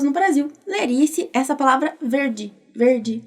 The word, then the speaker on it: verde: Quando a vogal E aparece junto com o D, aí é pronunciado igualzinho do português, o D, ok? Por exemplo, a palavra verde, ó, verde, verde.